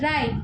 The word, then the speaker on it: write: First है राइट, तो उसमें डब्ल्यू कैसा है, साइलेंट है।